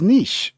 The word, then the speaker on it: niche: Niche is pronounced as niche. Just a heads up, my dude.